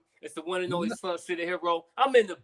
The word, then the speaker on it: Soncier: tell people who is Soncier the Hero. Well, first I want to get the pronunciation right because a lot of people call me Soncier or Soncier, like it's French. It's just Soncier.